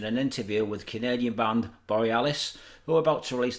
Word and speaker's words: Borealis: talking to Matt from Borealis is it borrow this is the name of the band borrow this is how you say it Borealis Borealis sorry okay